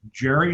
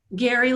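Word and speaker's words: Garry oak: been pronounced both ways is it jerry oak or gary oak gary like a man's name gary jerry is a man's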